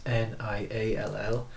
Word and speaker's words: Niall: And as you said at the start, my name is spelled the Irish way, so it's Niall, and it's Breathe with Niall on Instagram and Facebook too.